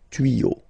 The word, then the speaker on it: tuyaux: Same rule. You don't pronounce it. Des tuyaux.